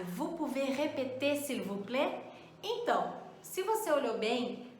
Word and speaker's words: plaît: Quando eu digo s'il vous plaît, por exemplo, você até ouve um pouquinho daquele L no s'il vous plaît, né? Mas você não ouve o S do vous, você não ouve o T do plaît, né?